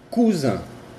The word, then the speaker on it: cousin: La I y la N tienen una pronunciación de un, como el número 1 en francés. Un. Por ejemplo, chemin, chemin, chemin, chemin, que es camino. Cousin, cousin, cousin, que es primo.